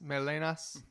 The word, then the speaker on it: Melenas: to have you guys here uh this is milenas and uh is that do i pronounce it right melanis melenas yeah okay perfect awesome uh so do you